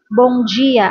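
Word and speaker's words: Bom dia: At naman yung uy ganon pagka uy Bongia ang pagka-pronounce nito guys ang M nila is parang ng parang nang.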